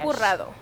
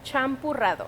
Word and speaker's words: champurrado: Champurrado. Say it one more time. Champurrado.